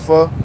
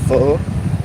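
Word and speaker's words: phở: You guys ever have pho? You might call it pho, but it's called pho. The right way to say it is like pho. The way they say it sounds so crazy.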